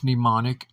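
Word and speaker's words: mnemonic: That's what a pneumonic is. It's ridiculous for someone to have to point out to another that oh that the spelling of that is the M is silent.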